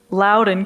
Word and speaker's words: Loudoun: She's been a resident of Ashburn in Loudoun County. I just said it wrong. Loudoun County, Virginia, for 25 years.